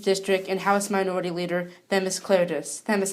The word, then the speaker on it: Themis Klarides: Right here I have representative from the 114th District and House Minority Leader, Themis Klarides. Themis, how are you? Good, and you pronounced my name properly, so you're way ahead of the game from all the other leaders in Connecticut.